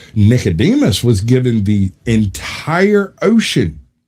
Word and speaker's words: Nicodemus: It is Nicodemus.